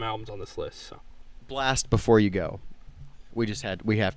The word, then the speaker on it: Blxst: Blast Before You Go.